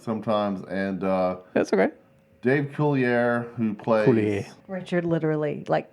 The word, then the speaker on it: Coulier: his name is actually pronounced Coulier.